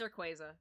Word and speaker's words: Rayquaza: It's Rayquaza.